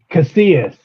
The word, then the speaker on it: Casillas: Casillas. Is that how you say it? Casillas.